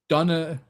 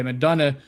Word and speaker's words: McDonagh: Lightning signed defenseman Ryan McDonagh, I think that's how you say it. Yeah, McDonagh, to a 3-year extension, $12.3 million contract.